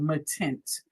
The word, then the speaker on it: Matint: There's this new stuff guys called Matint. That's how you pronounce it.